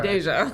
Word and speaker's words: Deja: He did say cuz he mispronounced Deja. Deja. Deja. You said Dej. Dej. That's a Dej. I do not have a nickname. I'm Deja.